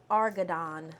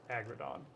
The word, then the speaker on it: Argadon: Her name is Argadon. Argadon. Thank you. I thought it was Agradon.